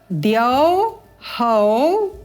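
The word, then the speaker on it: द्यौः: यहाँ पर विसर्ग का उच्चारण स्वर के अनुरूप होगा। द्यौहौ, ऊ की अल्प ध्वनि, द्यौहौ।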